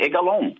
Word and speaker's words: Egalon: You pronounced my name correctly, Egalon, right?